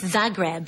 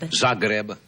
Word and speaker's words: Zagreb: recently returned from did I pronounce it right said grab yes Zagreb Zagreb Yugoslavia Yugoslavia have you